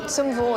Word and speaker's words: Zum Wohl: Zum Wohl.